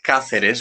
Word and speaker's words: Cáceres: Yeah, this is Cáceres, which is spelled Caceres, Cáceres, with the Spanish C, Cáceres.